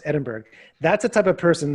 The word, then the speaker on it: Edinburgh: He told a Scottish girl, Tracy Black, that Edinburgh should be pronounced Edinburgh because that's the way it was spelled. It's like, no, it should be pronounced Edinburgh.